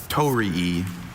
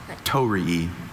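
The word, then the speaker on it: torii: Tori Are there any alternate pronunciations? I have just the one tori.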